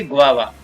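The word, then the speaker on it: guava: तो यहाँ पर U ऐसे वा बना और वा फिर है V ऐसे, तो इसको पढ़ेंगे गुआवा। नेक्स्ट है H से शुरू होने वाले कुछ शब्दों में H का उच्चारण है वो नहीं होता है।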